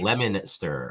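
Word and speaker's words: Leominster: Your Oh friend yeah, from Massachusetts is in the chat, and he oh says yeah, it's pronounced Scotty. Lemonster.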